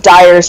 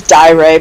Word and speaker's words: Dyer: I remember, for the longest time, I mispronounced Dyer's name. I thought his name was Dyre, but no, it's Dyer.